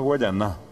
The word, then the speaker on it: Guayana: de América que es guayana que bien pronunciado guayaná la presión la perdón